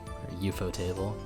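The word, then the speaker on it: ufotable: for a career also fun fact eupo is how you say UFO uh in Japanese so the uh Anime Studio that spelled UFO table uh is uh euuu or you table imagine what a scoop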